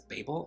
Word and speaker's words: Babel: of translation aka babel i've also heard this book being pronounced as babel which i think is just really cute because it sounds like babe i don't know that didn't